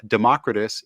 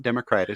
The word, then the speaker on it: Democritus: a Kickstarter for uh Democritus it's not Democrat it's Democritus brand chapters three and four